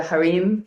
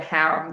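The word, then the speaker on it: harem: and I know like in other countries They call it the harim, but here in America he called it haram.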